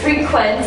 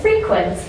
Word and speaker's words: frequent: words frequent and frequent the difference between the words frequent and frequent is that frequent is the verb or you have the action on the second syllable whereas frequent is the adjective where you have the accent on the first syllable okay do you frequent